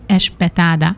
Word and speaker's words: espetada: Ezért a kiejtésért, már biztos meg fognak lincselni, de így sokkal könnyebb lesz nektek megérteni a különbséget és megtanulni, mert ahogy a portugálok ejtik ki, úgy semmi különbség nincsen.